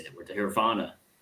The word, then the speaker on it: Hryvnia: The Hryvnia. Hryvnia is how we say it.